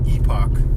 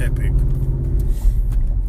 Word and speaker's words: Epoch: epic times I don't it's Epoch this is not Epic people say is people